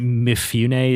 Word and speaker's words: Mifune: Is it Mifune? Is his last name something like that? Mifune, yeah.